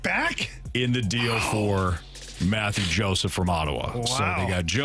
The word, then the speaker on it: Mathieu Joseph: And I'm just going to go with the American version of this next name in Mathieu Joseph. Yeah. Quality. Good job. It's actually pronounced Mathieu Joseph.